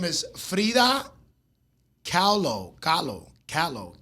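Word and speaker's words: Kahlo: Um, I think her name is Freda Callo. Callo, Callo, K A H L O. So, if you know how to pronounce that, shout out to y'all.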